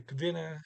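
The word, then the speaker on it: kvinna: here and the kavina get the k right before the v again there is a minor i don't i don't write that down such a minor thing kavina there's really a some type of vowel in between the k and the v there but it's so slight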